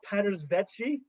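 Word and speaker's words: Paeters Vaetje: angry i'm going to call it patters vetchie uh p a e t e r s v a e t j e which is not a native uh english speakers uh in my wheelhouse pronunciation anyway so we went to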